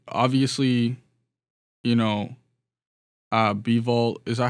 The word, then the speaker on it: Bivol: I just, it just seemed like, obviously, you know, Bivol, is that how you pronounce his name? Bivol, yeah.